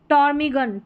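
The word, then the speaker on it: ptarmigan: यहां पर है टॉर्मीगन। टॉर्मीगन तो पी साइलेंट है।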